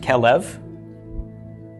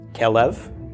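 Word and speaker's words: כֶּלֶב: with no doggish okay so RK from cough short e from the Sehgal L from the LA mid short e from the next Sehgal bait with no doggish is a V this pronounced quel EV quel EV quel EV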